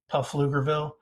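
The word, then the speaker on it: Pflugerville: a suburb of Austin named fluger with a silent P puff lugerville uh and he created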